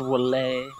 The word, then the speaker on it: Wily: It's pronounced Wally.